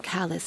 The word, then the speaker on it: Callas: Jemand Jacques angewiesen hat, Herrn Callas zu ermorden. Das S wird nicht ausgesprochen. Sorry.